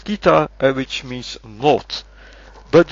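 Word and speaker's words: 北: And then I found this, which you pronounce as kita and which means north.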